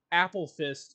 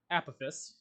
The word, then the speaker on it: Apophis: against Degen or Rubio Apple fist if you're Brad if you're not dumb it's Apophis but whatever anyway intro